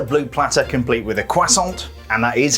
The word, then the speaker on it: croissant: functional there's a blue platter complete with a croissant and that is how it's pronounced and some wizarding beverages i definitely recognize